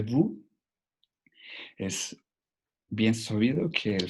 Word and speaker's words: vous: Et vous, en esa frase podemos encontrar otras dos, la T en E y la S en vous.